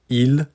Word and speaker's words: ils: It's the same pronunciation as the third person of the singular.